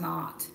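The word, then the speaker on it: Maat: tarot reading we pulled Mott right sometimes it's pronounced not that she is the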